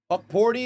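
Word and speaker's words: Hukporti: Horty. Horty is the is how you pronounce it.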